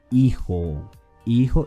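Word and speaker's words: hijo: a new word okay let's get started with iho is spelled h-i-j-o remember that in spanish j is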